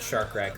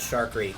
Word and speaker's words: Shark Wreak: truck collectors out there always some mispronounce this name and call it shark but but but now you know it's but night but now you know how but now you know it's called Shark Reef because um because because